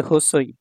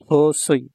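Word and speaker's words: 細い: এই লেসনের দুই নাম্বার লেসনে দেখুন এটা হচ্ছে হোসই হোসই ঠিক আছে এই যে হোসই হোসই মানে চিকন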